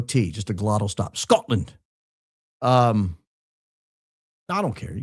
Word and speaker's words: Scotland: You even removed the tea so I can say it properly. Scotland. There's a glottle stop there. No tea. Just a glottle stop. Scotland.